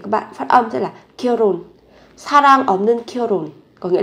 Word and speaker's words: 결혼: Nhưng mà cái phụ âm hờ này các bạn phát âm rất là nhẹ.